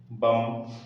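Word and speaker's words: bomb: Next example में लिखा है बम, तो यहाँ पर जो बी है वो क्या है? साइलेंट है।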